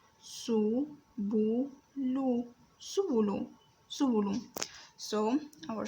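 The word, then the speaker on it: سُبُلُ: The first one is seen with a dhamma over it, pronounced as su. The second letter is B with a dhamma over it, is pronounced as bu. The third letter is lam, pronounced as lu.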